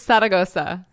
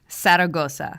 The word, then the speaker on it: Zaragoza: I'm learning Spanish, so I feel like a little shy about my pronunciation. It's fine. It's Zaragoza. Zaragoza.